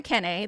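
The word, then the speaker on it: achene: that can be planted in a keen or in a kenna. They can be pronounced either way.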